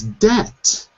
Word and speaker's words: debt: got two syllables and debt has one syllable and in debt I